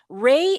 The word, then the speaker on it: RAI: Yeah, like ray of sunshine. Okay. Like the ray of sunshine. Thank you. Now I will remember that. Ry empowers refugee and immigrant